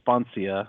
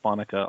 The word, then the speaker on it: Sponcia: Like my name, it's Sponcia, and people say Sponica all the time.